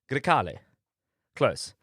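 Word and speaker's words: Grecale: come early next year which was the Maserati Gali Galza how it's pronounced Gali close.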